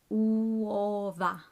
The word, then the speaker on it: uova: And finally, uova. Uova. Take your time to pronounce this because you have to make noises with all the vowels. So uova.